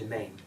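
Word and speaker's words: demesne: would call the park, the Anglo-Irish house always called the domain. It's spelled D-E-M-E-S-N-E.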